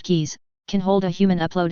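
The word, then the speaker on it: QIs: of organic forms and fist-sized qi's Quantum intelligence housing pronounced keys can hold a human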